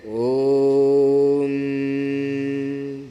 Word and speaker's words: ओम: ओम का उच्चारण ऐसे करते हैं ओम.